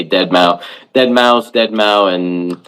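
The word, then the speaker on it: deadmau5: refer to him as dead mous is the the right way to um say his name is dead mou yeah well I mean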